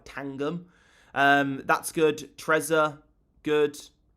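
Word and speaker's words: Tangem: Uh, Tan, uh, I always get this name wrong. It's not It's not T I call it Tandem, but it's like Tangum.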